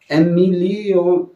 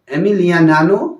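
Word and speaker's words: Emiliano: 2022 के world cup में जो अर्जेंटीना के एमिलियो मार्टिन थे उनको ये पुरस्कार दिया गया था। थोड़ा उच्चारण में अगर तुम्हें लगता है थोड़ा गलत है तो इसको माइंड मत कीजिएगा। एमिलियानो मार्टिन ये इनको ये पुरस्कार दिया गया था, ठीक है।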